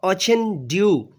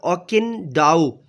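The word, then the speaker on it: Okonkwo: family is headed by orchin do or okin Dao both are acceptable as a pronunciation of the word hch for che in Brazil or in subcontinent or Pakistani or Indian accent and in or can do as a Nigerian accent okay Uncle generous and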